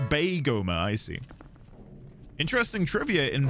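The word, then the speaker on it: Beigoma: It's pronounced Baigoma, I see.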